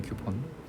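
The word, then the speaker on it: coupon: 이것도 발음할 때 Q라고 읽히거든요. 쿠폰이 쿠폰.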